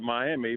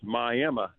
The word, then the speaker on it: Miami: It It's actually it's spelled like everybody down in in Florida call it Miami, but here in Oklahoma we we pronounce it as My Emma.